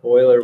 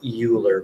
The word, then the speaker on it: Euler: worksheet so E is sometimes called Euler's number Euler was a math guy from a long time ago it looks like Euler but it's pronounced Euler and it's approximately 2.718